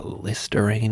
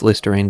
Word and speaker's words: Listerine: me all right it's listerine bold routine i like how routine rhymes with listerine too a bold guide to